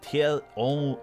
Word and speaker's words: Thierry: Thierry Henry, Ruud, Thierry Henry, how do you say Thierry? Thierry. Okay. Thierry Henry.